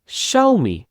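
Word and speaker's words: Xiaomi: capital x small x এখানে দেখেন যে এইটার উচ্চারণ দুই রকমের হয় একটা হয় ডাইরেক্ট এক্স আরেকটা হয় সা যেমন এক্সরে শাওমি শাওমি হচ্ছে চাইনিজ একটা মোবাইল ফোন কোম্পানির নাম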